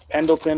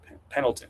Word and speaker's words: Pendleton: You're not supposed to say the D like it's supposed to be a soft D. That's a weird thing to say out loud. Pendleton is I guess how you say it out there in Oregon.